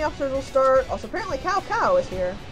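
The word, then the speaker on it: Cao Cao: where the enemy officer will start else apparently cow cow is here like how cows sow sow that one I knew how to pronounce I just messed up you can see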